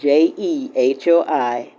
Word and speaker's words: Jehoiachin: It's Jehoiachin. It almost sounds like someone sneezing.